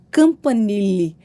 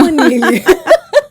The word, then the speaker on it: Campanile: Enfim, temos muito a conversar e hoje nós estamos recebendo aqui a infectologista doutora Campanile. Eu pronunciei certo? Pronunciou certinho. É Campanile.